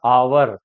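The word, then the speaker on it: hour: starting with silent H कुछ हमारे पास ऐसे वर्ड्स भी हैं जिनमें एच साइलेंट रहता है हमें यह लगता है कि यह है की साउंड आएगी है की यहां पर साउंड नहीं आती जैसे ववर दि आवर एच साइलेंट है आवर ऑनेस्ट एयर एयर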